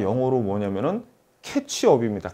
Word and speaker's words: catch-up: 적으로 이제 요런 이 캐치 업 발음을 잘 하셔야 되요 감자 찜 어 찍어먹는 태 차비 아니라 뭐라구요 캐치 업 이라고 캣 초 그래서 이 이런